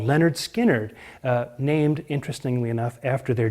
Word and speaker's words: Lynyrd Skynyrd: uh 1970 to the first album is called pronounced Leonard Skynyrd and of course the big song on that